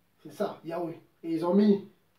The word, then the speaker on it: Yahweh: C'est juste pour le prononcer, parce que en hébreu, il n'y a pas de voyelle, il n'y a que des consonnes.